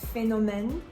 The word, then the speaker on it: phénomène: For example, PH is going to have the F sound like phénomène, and CH is going to have the sound sh like chaud.